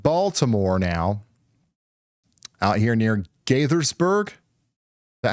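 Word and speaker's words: Gaithersburg: Gathersburg. That is how you say it.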